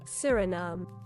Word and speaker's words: Suriname: Surinom. Oh, Surinom. That's the British version. What's the American? Surinom. That's exactly the same. Oh, yeah. Surinom.